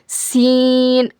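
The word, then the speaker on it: س: ज़ और जब जा को पढ़ेंगे ना सख्ती के साथ पढ़ना ऐसा जा और इसको बारीक पढ़ना लाइटली जा उसके बाद देखिए सीन सीन सीन का क्या मखरज है?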